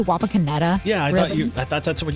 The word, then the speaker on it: Wapakoneta: Wapakoneta, isn't that how you say it?